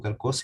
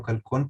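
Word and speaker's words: χαλκός: Y la quinta es calcos, digo calcos y no calcón, porque en griego la N se pronuncia como S, que aparece 3 veces y que se traduce como dinero o latón.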